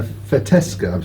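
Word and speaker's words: Fetească: Merlot yep and now we're trying a fetoscope that's the correct way of pronouncing it a great traditional grape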